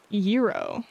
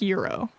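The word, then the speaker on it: gyro: So, for the Greek me sandwich, it's probably pronounced euro. Oh, it's literally like like euro. Like no no no G sound. Like as a silent G.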